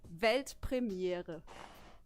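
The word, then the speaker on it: Weltpremiere: world Premiere in German it's actually V Premier pretty similar I I think I could do that yeah yeah do it V Premiere yeah that's good congrats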